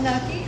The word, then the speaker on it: gnocchi: Yeah, a little nucky. Oh yeah, gnocchi. The one spelled with a G.